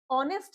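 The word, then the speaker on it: honest: ऑनेस्ट में भी हमारा एच हमारा साइलेंट होता है।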